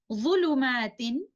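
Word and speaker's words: ظلمات: Exactly like this in the last word, the word ظulumatin is ending with a kasratain, but upon stopping, we will recite by dropping the noon sakina hidden in tanween and pronounce it like this, ظulumat.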